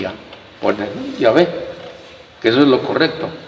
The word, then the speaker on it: Yahvé: Entonces, pero lo más correcto es decir, Yahvé. Yahvé.